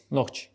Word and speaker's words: Nohchi: Chechens - how to say it correctly? Nohchi. What is it from? It means "Chechens" in Chechen. In general, there is no such word "Chechens" in our language, it is a Russian word.